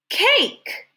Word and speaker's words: cake: And remember, silent E doesn't make a sound. Don't say this one, he's sneaky. K, A, k. What does it say? Cake.